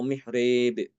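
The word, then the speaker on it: محراب: Diimalahkan tapi boleh dengan dua wajah ya untuk yang mihrab itu. Tapi mihrabnya itu dia fathah ya. Seperti mihrab, dibacanya boleh dengan mihrab atau mihrib.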